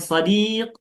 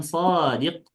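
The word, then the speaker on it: صَدِيق: Perhatikan panjang pendeknya ya. Oke. Ini sodiq bukan shodq. Kalau shodq sadnya yang dipanjangkan artinya bukan teman lagi tapi apa?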